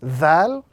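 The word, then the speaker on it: ذال: So this letter, the letter Dhal, is pronounced when the tip of the tongue touches the edges of the upper two front teeth. This letter is very similar to TH in the English language.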